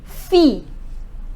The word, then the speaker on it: fille: say to daughter la fille Double L is silent next children lay sofa